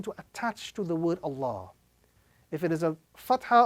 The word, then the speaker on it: Allah: Inna Allah is the correct pronunciation with a round sound.